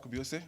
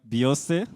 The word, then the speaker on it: Biose: My name is Biose, and I'm going to change the world. God bless. Thank you very much, Biose. With such a name which rhymes with Beyonce, I think you'll also